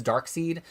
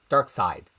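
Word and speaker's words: Darkseid: It should be DC versus vampires versus Dark Seed. Dark Side. Sorry, Dark Side. I say Dark Seed because I learned everything in my head without hearing any real people talking about them.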